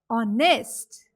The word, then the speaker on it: honest: Similarly, H is silent in the word honest.